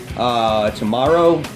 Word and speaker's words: Tamaro: Tamaro, that's how you say it.